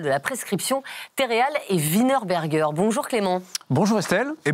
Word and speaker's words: Wienerberger: Estier, directeur national de la prescription Terreal et Wienerberger. Bonjour Clément. Bonjour Estelle et bravo pour la prononciation parfaite de Wienerberger.